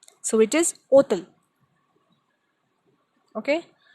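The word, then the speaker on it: hôtel: Then another example, hotel, and we pronounce it as hotel. So it is hotel. Okay? Because again, H is silent in this word.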